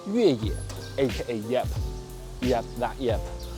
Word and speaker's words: Yueye: This little thing is called Yueye, aka Yep. Yep, that Yep. And it has the exact same pronunciation as off-road in Chinese.